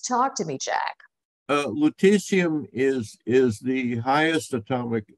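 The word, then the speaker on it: lutetium: uh list on something that I can barely pronounce Leticia is it Leticia yeah that's that's a good pronunciation okay why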